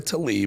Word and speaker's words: Tlaib: But Rashida Tlaib, let me say it right, Rashida Tlaib may have taken, you'll understand why I said